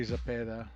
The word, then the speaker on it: Zepeda: And I have to say Zepeda. I have to hurt for the accent because I'm tired of hearing him mispronounce the motherfucker on TV.